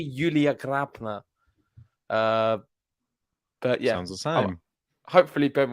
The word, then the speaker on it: Julia: time sorry I'm late I've just been perfecting how to actually say her name it's actually Yulia uh but yeah hopefully